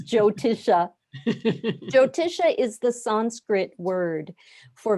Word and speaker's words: Jyotisha: How do I pronounce Jyotisha? Jyotisha is the Sanskrit word for Vedic astrology, and I often have a problem with the word astrology.